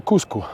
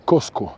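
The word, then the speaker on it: Qosqo: Que Cusco, en quechua no se dice Cusco. Cusco es la forma del castellano de decir Cosco. Cosco es la palabra quechua para definir el ombligo de la civilización, el ombligo del imperio Inca.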